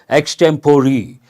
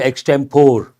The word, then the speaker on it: extempore: for that we say extemporary mispronunciation a lot of people say extempore not extempore extemporary extemporary speech means spontaneous without any